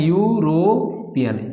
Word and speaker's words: यूरोपियन: क्योंकि यूरोपियन के उच्चारण करने में या आ रहा है और या ये क्या होता है, व्यंजन होता है, इसीलिए हम यहाँ पर क्या लगाने वाले हैं, ए लगाने वाले हैं।